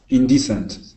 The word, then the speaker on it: indecent: that word is indecent indecent good with that accent right on this uh this first e okay indecent nice job